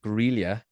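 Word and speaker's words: Grýla: The Yule lads and their mother Grelia take well the place of Santa Claus in Iceland. Yeah, I'm not even sure if that's how you say it. It is just sounded Grilla. right. It is Grilla.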